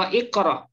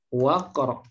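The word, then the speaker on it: وَاقْرَأْ: Tapi kalau sebelum iqra ini ada huruf waw. Nah, misalnya seperti ini. Kira-kira kita baca apa ini, Bapak Ibu? Waqra atau wa iqra? Waqra. Ya.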